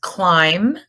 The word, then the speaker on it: climb: limb this one is climb climb has a silent B at the end and bum it's not